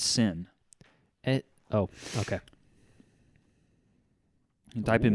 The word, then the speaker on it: Seine: Look it in France that's spelled Seine, but pronounced Seine.